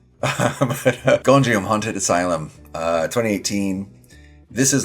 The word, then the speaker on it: Gonjiam: Oh, I keep saying that name wrong. Gonjiam, Haunted Asylum. I think I keep wanting to say Gojira, which is wrong. But Gonjiam, Haunted Asylum, 2018.